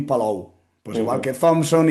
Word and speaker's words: Thompson: que además en inglés Thompson y Thompson más o menos suena exactamente igual. Sí, sí, porque la P casi no suena cuando uno lo lo pronuncia.